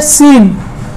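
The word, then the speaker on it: scene: के बाद आता हो, जब भी किसी वर्ड में सी एस के बाद होता है वहां पे आप जान जाइएगा सी क्या होगा, साइलेंट होगा। जैसे देखिए मैंने एक एग्जांपल लिया है सीन।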